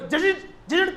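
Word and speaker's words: judge: जाए जज को पढ़ो, जज की इंग्लिश में डी साइलेंट है, अब उसको जज पढ़ दें तो लोग हंसेंगे, यार क्या पढ़ाई कर रखे हो।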